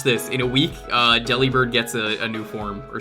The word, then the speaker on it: Delibird: they made the collection do you think Deli bird was meant to be pronounced like delivered yes I think so